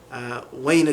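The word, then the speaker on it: أين: So ain in Modern Standard Arabic, where, like you say aina anta, where are you? Or min aina anta, where are you from? The dialects, they will pronounce that differently. So like I used to live with some Sudanese brothers, and one of the phrases I heard them say would be like wayna galabiya, where is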